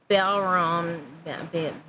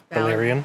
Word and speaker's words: Balerion: Viserys is seen admiring his restored Balron. Balerion. Balerion. Balrog meets figure. Balerion.